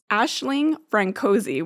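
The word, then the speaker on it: Aisling Franciosi: or not at all Ashling francoi which I did look up and that's the pronunciation apparently she uh has so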